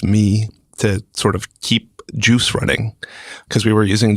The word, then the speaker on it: Guice: Juice is, and I should say it's Juice pronounced, it's spelled Guice if you're Googling it. Mm-hmm. So it's Juice, and it's pronounced like GIF.